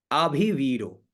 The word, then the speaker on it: अभिवीरो: ठीक है, आगे देखिए, अभिवीरो, अ है, भी छोटी है, वी दीर्घ है और रो बड़ा है, अभिवीरो, अभिवीरो।